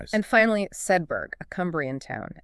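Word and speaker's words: Sedbergh: It's pronounced Sedberg. It retains the hard G sound and the R sound, almost like Sedberg.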